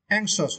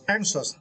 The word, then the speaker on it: anxious: And for the second word, anxious, right? Yeah. For the word anxious, yeah, you need to start the first syllable ang.